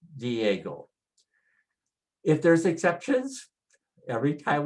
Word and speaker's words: Diego: And you know Diego, like San Diego. And just put the stress on the strong vowel, Diego.